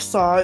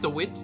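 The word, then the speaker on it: Sahwit: Frank Saw to the stand. It's pronounced Sawit.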